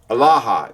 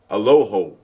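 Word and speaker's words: ܐܠܗܐ: But in in in Western Syriak, they say aloho instead of alaha. They use a lot of O's that um that aren't that they incorrectly put a lot of O's in there.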